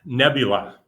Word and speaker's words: Nebula: next year so and tim how do you pronounce the name of the the company uh nebula snacks nebula okay i'll show you one more we'll have